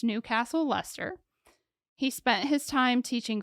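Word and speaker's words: Leicester: that wrong but it's they pronounce it luster but it looks like lychester or something like that you know yeah but it's Newcastle luster he spent his time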